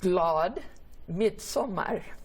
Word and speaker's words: glad midsommar: Speaking of the culture, how do you say midsummer if you were like in Sweden? Yeah, you would say glad midsommar.